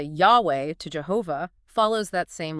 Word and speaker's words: Yahweh: And the pronunciation scholars often reconstruct as something like Yahweh. Okay, Yahweh.